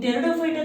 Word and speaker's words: Pteridophyta: In Pteridophyta there are 4 types. Psilopsida, P is silent here. Lycopsida, Spinopsida and Pteropsida. Here also P will be silent. Pteropsida.